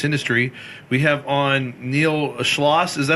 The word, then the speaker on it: Schloss: We have on Niel Schlosss. Is that how you pronounce it?